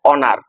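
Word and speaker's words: honour: First one, হি has received dash অনার। এই শূন্যস্থানে কোন আর্টিকেলটা বসাতে পারি? এন। কেন বসছে? কারণ এইচ এর উচ্চারণ হয়ের পরিবর্তে অ হচ্ছে বলে। ঠিক আছে, বসাই এ এন।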